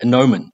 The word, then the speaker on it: gnomon: and a stick called gnomon the g is silent there's the flat circular